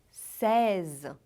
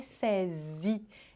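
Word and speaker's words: seize: sim César Pois é em francês 16 é reza Como reza tem o som desse aí que tensão de um aberto é César reza diga vou o César e não vou falar de novo hein lembra do iq não é para atenção de ir no final tá não é Sesi é César fazendo são dizer no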